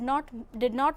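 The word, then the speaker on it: know: For example, in the word no, K is silent.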